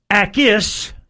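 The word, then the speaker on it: Jacas: Well, Yakis Jacus. Gabe Jacus. He pronounces it ais. No. with the J silent.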